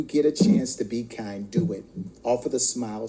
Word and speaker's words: Kynd: the host of The Kind Podcast, where kind is spelled K Y N D, and yes, it's spelled with a Y because kindness starts with you.